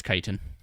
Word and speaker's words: chitin: Chicken I believe it's kaitan I get that pronunciation wrong a lot but I believe it's chitin okay it's time to